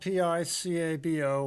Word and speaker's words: Picabo: Oh yes, it's spelled P-I-C-A-B-O. Looks like it's Picabo or something like that, but no, it's pronounced Picabo.